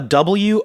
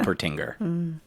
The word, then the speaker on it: Wolpertinger: I have a Wolpertinger. Tinger. Okay, I mean I fell at the first hurdle. Yeah. Yeah, Wolpertinger. I was pronouncing the W like it was in German. So yeah. Wolpertinger.